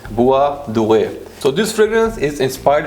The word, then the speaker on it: Bois Doré: is Bois Doré, or in French, if I'm pronouncing it right, it's Bois Doré.